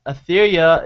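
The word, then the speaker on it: Aetheria: out return of etheria War of Realms uh etheria is spelled a e t h e r i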